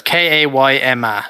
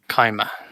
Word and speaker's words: Kaima: It's the way they said it is Kayma. If you say Kai, K-A-Y, and then Ma. Kaima.